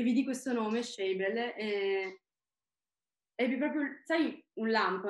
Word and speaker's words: Shabel: Quindi devo dirti che Shebel lo sento proprio mio. Perfetto, ti ringrazio e per aver detto qual è la pronuncia corretta, perché io sinceramente non, ammetto che